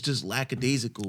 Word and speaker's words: lackadaisical: So when we see now, it's just lackadaisical, bro. That's how you pronounce it, bro.